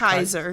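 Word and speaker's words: Keizer: Yep, I think it's Nick pronounced Kaiser.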